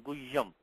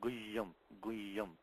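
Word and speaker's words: गुह्यम्: In guhyam, also you have the, also when pronouncing this, you should pronounce the ha. You should say guhyam. Sometimes the ha gets eaten up, becomes guhyam. Not guhyam, but guhyam.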